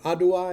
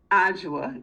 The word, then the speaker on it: Ajua: Adua is how you say your name? Ajua. Yes. Ajua, okay.